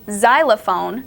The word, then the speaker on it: xylophone: were saying about the letter X with xylophone that looks like it makes a z sound which is what will